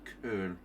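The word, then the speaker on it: Colle: So, Collie system, it's pronounced Kur.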